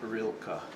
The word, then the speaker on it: Rilka: I have Rilka. Yeah. R I L K A. Correct. You even spelled it phonetically.